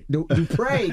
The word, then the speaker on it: Dupree: You got to put the accent on the E. Dupree Kelly.